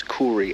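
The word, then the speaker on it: kauri: it's pretty cool nonetheless so Maddie has Googled how to say it and we meant to pronounce it as Cory apparently so it's a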